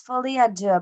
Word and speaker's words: Folie à Deux: That will be it's like Folie, yeah, because it's not pronounced fall, because I thought it was Folle. It's it's Folie à Deux, but the last word is definitely deux, because that's the word for two in French.